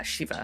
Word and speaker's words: shiva: I've enclosed uh Can you remind me how to pronounce this?" Ah, Shiva.